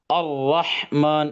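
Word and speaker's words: الرحمن: ஸோ இந்த டைம்ல, இந்த சந்தர்ப்பத்துல இதை வந்து நம்ம என்ன செய்யணும், நல்ல வாய் நிரம்ப ஹெவியா நம்ம வந்து ப்ரொனவுன்ஸ் பண்ணணும். அர்-ரஹ்மான் அப்படின்னு சொல்லணும். ஓகே, அடுத்தது பாருங்க.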